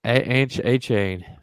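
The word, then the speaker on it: Achane: Acne. Butch, that's A-Chain. Looks like Acne. The way it's spelled on this sheet.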